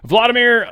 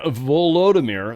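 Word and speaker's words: Volodymyr: look into it it's going to be suck Vladimir volodimir sorry zalinski sometimes spelled with two wise depending if you use their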